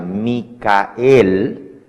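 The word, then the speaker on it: מיכאל: de Daniel se dice mikael Claro si usted lo escribe en inglés se pronuncia Maico pero en hebreo se pronuncia micael y en español Miguel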